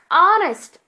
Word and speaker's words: honest: Honest, an honest. Hour, an hour. Why I have added an here? Indefinite articles. Because here H is silent and sounds as vowel, students.